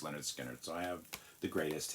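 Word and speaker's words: Lynyrd Skynyrd: man it was from the first pronounced Leonard skinnard so I have the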